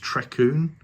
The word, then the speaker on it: Trecwn: It is actually pronounced Trecwn Valley. It's the Welsh pronunciation, and I've been pronouncing it wrong all the time I've been working on this layout.